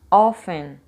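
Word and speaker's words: often: semana as relações sobre a pronúncia offen não existe a pronúncia do te é como se ele desaparecer offen gold weekend stressed syllable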